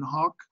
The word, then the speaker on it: hoc: So is it true my note, I've gone out of my way to say that it's a short O in hoc. So it's hoc is parallel to quad.